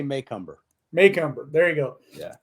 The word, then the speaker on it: Macomber: I get that correct depends on what part of the country in somebody say McCumber maycumber so how do you say I say maycumber mumber there you go